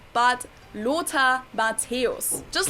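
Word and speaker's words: Matthäus: from my intro the one and only not matt house but lota mateos just like the other two he's also a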